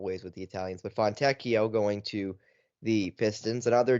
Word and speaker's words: Fontecchio: Simone Fontecchio, Fontecchio, there you go.